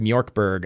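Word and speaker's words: Mörk Borg: It is pronounced Mork Borg, I am pretty sure.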